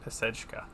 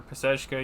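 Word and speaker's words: Pacejka: That's how you pronounce it, pesechka. And depending upon which one you're on, you can the different values apply. So I think for pesechka, you really want A through E.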